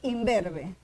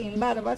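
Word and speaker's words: imberbe: y lo contrario es inverbe, no se dice in barba, sino inverbe. Ya. Este in se convirtió en m. ¿Por qué? Porque automáticamente esta b que se pronuncia con los dos labios le contagió a la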